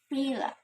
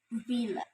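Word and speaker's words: villa: Fila. The learners pronounce it like fila, fila, but the correct one is vila.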